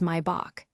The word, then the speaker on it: Maybach: Now for Maybach, this name is German and the correct pronunciation is mybach. The ay sound is like the i in the word my.